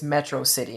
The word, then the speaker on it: Metro City: He pronounces Metro City as Metrocity, and at the beginning of the movie, he's like calling it Metrocity.